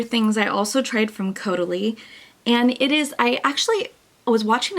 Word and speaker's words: Caudalie: And she goes, it's like totally, but it's with a C, Caudalie.